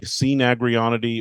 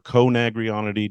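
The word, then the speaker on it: Coenagrionidae: which is in the family Cnagrionidae or Conagrionidae, depending on how you pronounce it.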